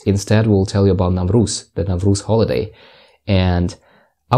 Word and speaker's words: Navruz: Various countries pronounce Navruz differently. They say Nowruz or Nowruz, etc. We say Navruz, and different countries celebrate Navruz differently.